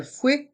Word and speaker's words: fouet: Le fouet électrique. Le fouet électrique. Dans le mot fouet, il y a deux sons différents, le son OU et le son E.